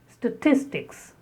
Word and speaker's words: statistics: The next is statistics. Again the stress on the second syllable.